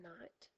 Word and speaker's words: knight: of the word night you put a K in front the K is silent a KN spelled this